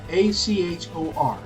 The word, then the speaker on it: Achor: up, a psychologist named Shawn, how do you pronounce that? Achor? Achor.